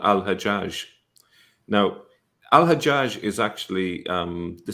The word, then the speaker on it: Hajjaj: Hagag is the Jewish version of that, and it's still pronounced that way, Hagag, in some Arab countries, such as Egypt.